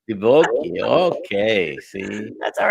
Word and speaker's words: Divoky: no, there's no S. It's Divoky. Divoky.